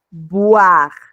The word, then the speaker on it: boire: Y aquí tenemos estas dos, miren, aquí lo que nos diferencia va a ser la pronunciación de la V, porque aquí la E,